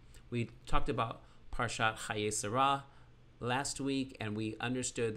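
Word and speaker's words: שרה: reish and the hay the hay in yellow is the h at the end of sarah and is silent but holds the place of a vowel preceding it the t looking symbol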